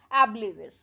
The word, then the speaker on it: oblivious: इसका इसकी जो प्रोनंसिएशन है वह कैसे होगी एबली विस ये यहां पर दी हुई है और एबली